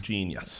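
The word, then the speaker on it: jeen-yuhs: part one's out uh jesus genius gene yes genius it's spelled j e and yes but yeah it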